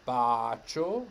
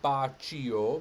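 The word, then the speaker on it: bacio: so we have k here we have c followed by an i we know that makes chu so we have bacho not bachio but here we have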